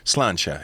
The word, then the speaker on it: sláinte: It's sláinte. It's like SLAINTE with like one of them crazy marks on it.